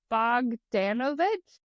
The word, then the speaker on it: Bogdanovich: I actually just realized I didn't learn how to say it, but it's Bogdanovich.